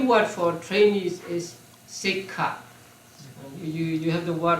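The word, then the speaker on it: sekkha: now trainees the p word for traines is sik you you have the word on page 179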